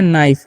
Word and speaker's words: knife: तो कनाइफ नहीं, इसे हम लोग पढ़ते हैं नाइफ, क्या पढ़ते हैं, नाइफ, ठीक है, याद रखना है। यहाँ पर के साइलेंट होता है, और HIGH है, GH